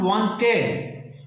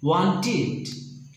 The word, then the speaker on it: wanted: We have to pronounce the id sound with low pitch. Low pitch. So, for example, the verbs ended with t. Example, want, wanted. Not wanted, wanted.